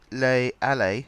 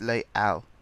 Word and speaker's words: Les Halles: But it's not Les Allées, as I called it. It's Les Halles. Apparently you don't pronounce the ES at the end.